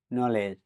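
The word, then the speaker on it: knowledge: letter দি silent থাকবে কে এন ও ডাবলিউ এল ইডি জিই নলেজ মানে জ্ঞান এখানেও কে লেটার ডিলেন্ট থাকবে কে এন এ সি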